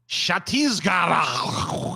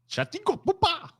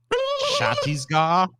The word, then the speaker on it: Chhattisgarh: Chhattisgarh. That's so wrong. Chhattisgarh. I don't know. Tell me how to say it, Paul. You say it for me. Chhattisgarh.